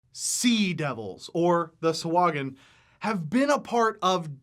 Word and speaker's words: Sahuagin: And today, of course, we're talking about the Sahuagin, or as it's properly pronounced, the Sahuagin. Sahuagin. Frankly, I hate pronouncing it